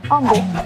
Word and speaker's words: Humble: Humble, and to make sure we're all on the same page, it's pronounced Humble with a silent H.